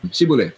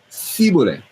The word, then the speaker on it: shibboleth: Shibboleth. Some said shibboleth, the other ones say siboleth. It's s versus a sh.